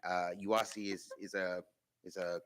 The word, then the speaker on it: UASI: So essentially with this program um it's it's pronounced YASI. Uh UASI is is a is a combination of state and federal funds.